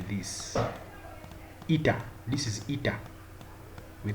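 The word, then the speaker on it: eta: is pronounced as this this symbol here is pronounced like this ita this is It we call it that's the the symbol that we have.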